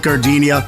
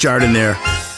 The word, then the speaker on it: Jardiniere: Hey guys, when you're at the counter, don't call it Gardenia. It's pronounced Jardiniere.